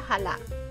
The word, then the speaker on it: chala: este es el nombre se escribe chala pero creo que se pronuncia jala pero como les dije